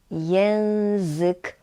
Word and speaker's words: język: Uwaga na wymowę słowa język. Tu jest nie ży, nie. Mamy język polski.